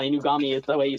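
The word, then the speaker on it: Inugami: Not a nice pronunciation. I mean, he's not wrong. Inami is the way you say her name. He said Corona.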